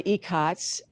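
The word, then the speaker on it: ikat: And then Alex and I are into icots. That's spelled I-K-A-T. That's how I pronounce it. It can be pronounced in a number of ways.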